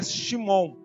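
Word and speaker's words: שמעון: pedra ou Pedrinha e do hebraico Pedro se pronuncia shimon que é aquele que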